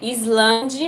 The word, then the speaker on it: island: Você escreve Island, mas você fala island.